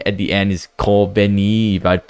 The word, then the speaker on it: Kobeni: I think the girl that said at the end is Kobeni, if I say her name correctly. It almost like Konbini, like super like convenience store.